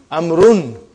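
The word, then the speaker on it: عمرو: Why do you have extra vowel? It is not read. It is not pronounced. It is only written. Why? Just to differentiate between these two. Actually, it is Amrun.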